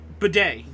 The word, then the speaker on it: bidet: Bidet.